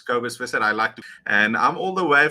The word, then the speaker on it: Kobus Visser: Ladies and gentlemen, dit is Kobus Visser. It's some people that are English is difficult to pronounce, but it's Kobus Visser.